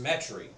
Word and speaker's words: Metairie: Pronounced Metairie.